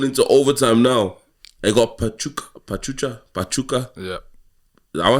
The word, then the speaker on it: Pachuca: I got Pachuca. Yeah. Am I saying it right? I'll give you that one. Pachuca, yeah.